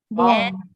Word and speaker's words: bomb: Bomb. Not bomb, right? It's bomb. Just a B silent.